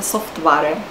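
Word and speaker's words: software: по-чешски читается как панте также и например софтвер по-чешски произносятся софтваре это просто специфика чешского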